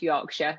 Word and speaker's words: Yorkshire: It's spelled Yorkshire, but it's pronounced Yorkshire.